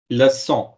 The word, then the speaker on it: leçon: Leçon, S. It's more Leçon. like S. Okay.